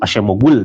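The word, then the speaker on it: Acemoğlu: Eh, Daron Ashemoglu, Ashemogul dibacanya gitu ya.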